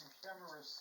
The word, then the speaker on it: Euhemerus: Well, I'm not going to comment on what I think about it, but there is a ancient author called Ebeneros in Greek, pronounced Euhemerus in English, that lived during the time when Alexander the Great became a god.